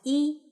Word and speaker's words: 一: In Mandarin, 1 is pronounced as 一. Does that sound familiar to you if you know the phrase 你好? Yes, 一 sounds quite similar to 你, right?